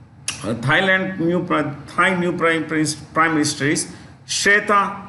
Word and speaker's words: Srettha: Okay, Thai new prime minister is Shreta Thavisin. I'll spell it SRETTHA, Shreta SRETTHA, Shreta Thavisin, THAVISIN, Tavishin, Shreta Tavisin.